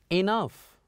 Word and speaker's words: enough: You see, sometime when we have GH at the end, they are most likely to be pronounced as F.